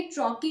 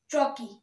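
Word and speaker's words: trochee: द food which contains strong week syllable is called ट्रॉकी metre, इसको हम लोग pronounce करेंगे ट्रॉकी मी, ट्रॉकी, okay.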